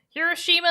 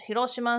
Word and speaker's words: Hiroshima: Hiroshima is English. Hiroshima is the Japanese pronunciation. Hiroshima.